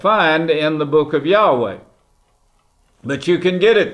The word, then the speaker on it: Yahweh: that you won't find in the book of Yahweh.